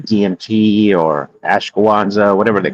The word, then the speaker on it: ashwagandha: when they take certain drugs like DMT or ashwagandha, whatever they call it, that's a part of astral ashwagandha.